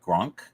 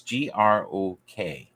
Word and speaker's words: grok: So in many ways, I find this list that am I pronouncing that right? Gronk? It's Grok. I think that's the 70s term. Grok, not Gronk. Gronk is ONK.